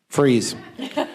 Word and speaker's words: Frise: Is it Frise or Frizzy? Freeze.